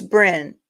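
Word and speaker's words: Brené: So it's Bryn. Bryn, am I saying it right, Bryn?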